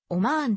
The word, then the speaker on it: オマーン: 的ではないアラビア語の発音では 2 番目の母音はは超ボインであるためオマーンというカタカナ表記が正しいおまんと発音を縮める